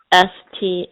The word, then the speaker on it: Staplin: are amazing called staka which is spelled s-t-a-p-l-i-n like staplin right um and that they